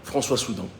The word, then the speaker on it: François Soudan: actuelle par un certain françois soudan françois soudan je vous encourage à faire vos recherches soudan comme ça se prononce françois comme ça